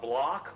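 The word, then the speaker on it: Bloch: The block wall, which is spelled B-L-O-C-H, is this null zone, like the doldrums of the equator.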